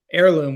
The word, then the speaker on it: Ayrloom: it needed to stand on its own but heirloom we spell it a-y-r-l-o-o-m but heirloom really Harkens back to